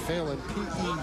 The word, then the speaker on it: Phelan: I guess pronounced Phelan, P-H-E-L-A-N. Brian, he's a junior.